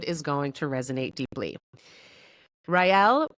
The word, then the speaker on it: Raele: Raele, pronounced Raele, helps clients become powerful